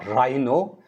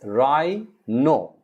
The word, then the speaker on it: rhino: that frightens us rhino r h i n o right no it's not rhyno it's rai no rai no then you